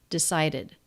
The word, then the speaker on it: decided: plus the D consonant it adds another syllable decided decided decided decided decided